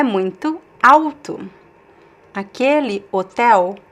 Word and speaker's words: alto: And the next one, you see the L in the middle of the word, but you see it's at the end of a syllable because the next letter is actually a consonant. So there's no way for us to pronounce the L here. It's alto, alto, alto means tall, alto.